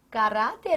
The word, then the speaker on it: caráter: Bom, para início de conversa, caráter tem a sua tonicidade aqui, ó, nesta sílaba. Ou seja, se fosse a última, a tonicidade, você chamaria de oxítona. Como se trata da penúltima, então isso é apenas uma o quê? Paroxítona.